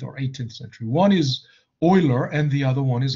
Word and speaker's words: Euler: euler okay it's not euler right it's pronounced euler it's german name you know i mean